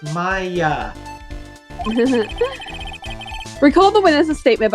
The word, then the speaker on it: Maya: testimony Nick may I my name is pronounced Maya recall the witness a